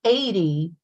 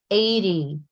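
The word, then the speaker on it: eighty: And, on the other hand, when you say 80, 80, and you remember to pronounce that Y clearly, okay? 80, not 8.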